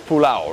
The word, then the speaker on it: pulao: of a delicious pilau or you say pulao but in india it's pulau right it's a little different in terms of the